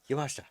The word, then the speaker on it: Yamashita: Miyu And how do you pronounce that last name? Yamashita.